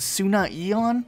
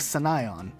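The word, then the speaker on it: Sunaion: people call this level the Battle of Sunnah Yellin yeah I don't know it's battle of Senayan and if you thought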